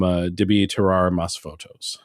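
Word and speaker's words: Debí Tirar Más Fotos: Bunny with his album Debi Terrar Mas Fotos. Pronunciation too. Thank you. I had to make sure I had the accent on the right syllable.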